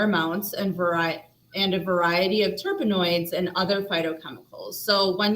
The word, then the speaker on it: terpenoids: We even looked up how to say this word, terpenoids. Was I that think correct? that's right. Yeah, Okay, terpenoids.